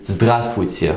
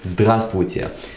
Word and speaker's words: здравствуйте: So we can take a word like hello in Russian, which is здравствуйте. Funnily enough, it's quite a complicated word. So the word hello is здравствуйте.